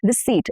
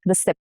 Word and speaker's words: receipt: Receipt, receipt and not receipt. No, per. Receipt, debt, not deb.